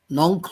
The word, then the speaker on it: Nongkhlaw: Now, Professor Nongklo, am I doing the correct pronunciation? Nongklo?